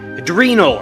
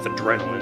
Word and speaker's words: adrenal: Typically starting in the adren adrenal. Adrenal. That's how it's pronounced. I went with adrenaline.